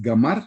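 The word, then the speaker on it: גמר: Hermanos, según la concordancia de Strong, la palabra fracaso en hebreo es gamar, así se pronuncia.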